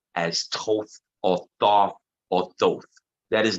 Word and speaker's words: Thoth: So Lord Thoth. The H is silent.